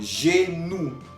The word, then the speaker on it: genou: Tenemos otro ejemplo, genou. Genou, que significa rodilla, la rodilla. Al final estamos oyendo OU. OU, que quedamos que se pronunciaba U. Entonces, leyendo todos juntos, vamos a decir genou.